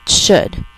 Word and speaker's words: should: c o u l d could number 11 rhymes with could should you should always do your best in school